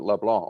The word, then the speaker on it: LeBlanc: his name is leblanc and do you pronounce the c or is it leblanc like frank it depends who's talking to me if i'm in quebec i don't pronounce it ah well i tend